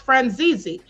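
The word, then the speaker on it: Franzese: Well, there's a uh there's a his name is pronounced Franzi.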